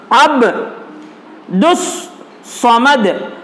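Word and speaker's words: عبدالصمد: मिसाल इन्होंने दी है, जैसे कि अब्दुस समद, इसका तलफ्फुज इस तरह किया जाएगा यानी इसको इसके अंदाज में पढ़ा जाएगा अब्दुस समद, अलिफ और लाम की आवाज साकित हो गई, साकित मतलब साइलेंट हो गई, उसकी आवाज नहीं आ रही।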